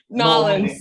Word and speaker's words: New Orleans: Yeah, you did notice how I pronounced New Orleans, right? Nolans.